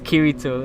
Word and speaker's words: Kirito: They used to call him, it's Kirito. Let's see what Kirito was gonna do today. Like that was funny. But I mean, he kind of does look like Kirito from Sword Art Online.